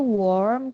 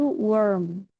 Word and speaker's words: warm: warm worm ya betul kalau yang hangat itu warm kalau yang Ulat itu worm warm and worm betul ya worm worm